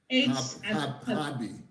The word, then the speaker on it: Harbie: It's spelled with an H. HARBIE. Yeah, like Harb.